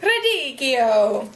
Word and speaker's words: radicchio: Radicchio!